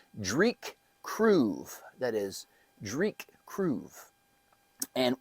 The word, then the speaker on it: Dreich Cruive: how to say it because I was like is it Derek Krabby I wasn't real sure but it is I made little phonetic type uh spellings it is Drake kroo that is Dr kroo